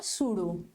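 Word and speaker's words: pseudo: आपको ध्यान रखना है जो पी होता है यहां पे ये आपका साइलेंट होता है इसका प्रनंसीएशन होता है सुडो तो इसको आप लोग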